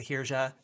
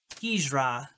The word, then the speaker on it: Hijra: and maybe that's where I'm thinking of the Hirja. I'm gonna look it up so I can actually try and pronounce it right. Hijra.